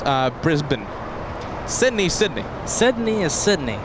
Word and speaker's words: Brisbane: uh Brisbane is Brisco hold on Brisbane it's Brisbane Brisbane yeah Americans would call it Brisbane what about Sydney but she would call it she says it's uh Brisbane Sydney Sydney Sydney is Sydney yeah okay nothing